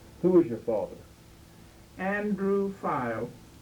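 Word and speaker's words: Fiel: Andrew File. Spelled F-I-E-L. They didn't spell it right, but that's the way he had to go by.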